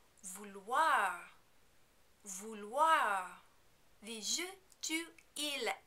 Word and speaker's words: vouloir: The infinitive looks tricky to pronounce because of the O-I-R combination at the end. This is actually a pretty easy sound to make though. If it helps you, you can imagine it as a combination of letters like W-H-A-R.